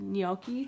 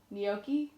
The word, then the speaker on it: gnocchi: John made gnocchi I think that's how you pronounce it yoky how do you say it John yoki yoky from scratch and so it's like potato and